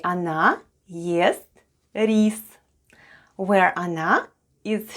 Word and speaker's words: она: The first sound is O, and it's unstressed and is pronounced as A. Then goes N, and then we have A. And all together it's она, which is Russian for she.